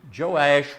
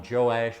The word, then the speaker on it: Joash: s h same person i'm gonna call him joe ash because that's what i'm uh more uh familiar with uh there so that brings us into chapter 12.